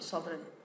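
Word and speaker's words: sovereign: मैंने आपको सिखाया था सोवन स्पेलिंग मिस्टेक नहीं होनी चाहिए बिल्कुल भी अब देख सोन सोन थोड़ा लिखने से प्रैक्टिस करने से याद होगा क्योंकि इसम साइलेंट है है ना लेटर तो सोन सोन होता है सुप्रीम पावर सोन क्या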